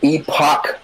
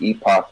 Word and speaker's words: Epoch: The Epoch Cassette Vision, 1981.